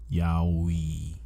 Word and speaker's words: yaoi: not fall into common sexualized tropes found in yaoi. Yeah. That's how you say it? Mm-hmm. Yaoi.